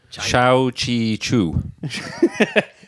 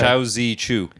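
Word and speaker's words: Shou Zi Chew: QI would be Chi. Would it? But this is Z. Yeah, apparently QI is pronounced Chi. All right, okay. But this is ZI, so I got that wrong.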